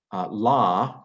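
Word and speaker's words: לא: kamatsu aleph is the in aramaic it's on the end of a word la not in hebrew it's lo because hebrew hebrew underwent a canaanite shift but aramaic didn't and so it's a long a instead of a long o in aramaic um it that if the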